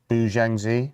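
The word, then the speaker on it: Bu Xiangzhi: I don't know how you pronounce his surname. Bu Jangzi.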